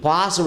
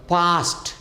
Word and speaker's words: passed: ಹಾಗೆಯೇ PASSED, ಪಾಸ್ಡ್ ಅನ್ನಬಾರ್ದು, ಪಾಸ್ಟ್. ಯಾವುದೇ verb ಸಕಾರದಿಂದ ಎಂಡಾಗಿದೆ, ಸಕಾರ ಶಬ್ದ ಎಂಡಾಗಿದ್ದರೆ ಅದು ಡಿ ಅಥವಾ ED ಸೇರಿಸಾಗ ಟ ಅಂತ ಮಾಡಬೇಕು. ಪಾಸ್ಟ್. ಪ್ರೆಸ್ಡು ಅಲ್ಲ, ಪ್ರೆಸ್ಡ್.